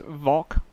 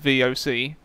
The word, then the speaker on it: VOC: Now, people have been saying it's not pronounced Vok. I'm just going to call it Vok. I haven't been saying Fok. I do try and pronounce it VOC, but I'm not going to keep saying VOC infantry. I just prefer to say Vok.